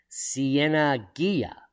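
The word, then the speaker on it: Cieneguilla: below la siena and let's just make sure we're saying that right pronounced siena ghia in english after the battle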